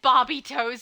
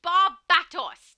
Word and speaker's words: Barbatos: Gemini said barbie toes. Why would you do that? A now I'm going to be thinking barbie toes. It's Barbatos. There is correct pronunciation.